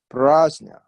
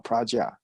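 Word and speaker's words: prajñā: Okay, the word prajna in Sanskrit, okay, romanized spell P-R-A. First syllable, pra. Second syllable, J-N with little skew things, right? Little squish on top of the N, then A, J-N-A. Okay, and on top of N, this like a nia, like a Spanish nia, Jnia. Okay, so it's pronounced prajna or praja, ja or jnia. Okay, so it's very difficult for a lot of people to say jnia.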